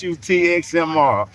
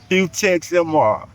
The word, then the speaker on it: Hutxmr: And by the way, man, my name is Huxmr. If y'all don't know how to pronounce my name, it's Hu Txmr. Hex MMR, that's how you pronounce it.